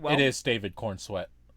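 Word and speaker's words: Corenswet: It is David Kornsweet. Is that how you say his name? Cornsweet or C O R E N S W E T. Cornsweet.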